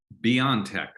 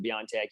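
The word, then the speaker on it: BioNTech: saw the little mystery in my brain Greg Beyond Tech that's how you pronounce it you know there are different ways of pronouncing it even internally differentology differently but yes that's why I pronounce it Beyond Tech you can't go wrong that way it's like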